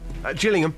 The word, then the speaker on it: Gillingham: Is it a soft G or a hard G? Just Jillingham.